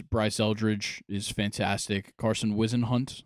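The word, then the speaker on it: Whisenhunt: Eldridge is fantastic Carson wizen hunt I believe is how you say or weisen hunt um yeah it is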